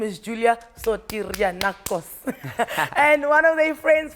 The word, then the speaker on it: Julia Sotirianakos: Her name is Julia Sotirianakos.